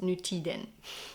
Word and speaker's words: Nutiden: And the popular yarn from this company is the Nutiden yarn, which I think is actually pronounced Nutiden in Swedish.